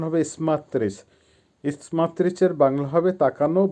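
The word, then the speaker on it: смотреть: আবার বলছি দেয়ালাচ করা বা ডু ভার্ব স্মাত্রিচ উচ্চারণ হবে ইসমাত্রিস ইসমাত্রিচ এর বাংলা হবে তাকানো বা লুক আবারো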